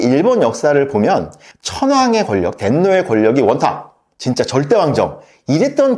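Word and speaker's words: 天皇: 천황이라고 부르니까 제가 이제 천황을 덴노라고 말한다고 말씀을 드렸는데, 천황을 일본어로 발음하면 덴노, 그래서 독일에서는 뭐 황제를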